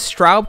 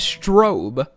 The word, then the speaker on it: Straub: at the game's prologue she says straub correctly here but in the darkest shores outro cut scene she pronounces it as strobe he provides the location